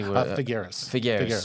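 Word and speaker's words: Figueres: How do you say Figaras Spain? Yeah. Yeah.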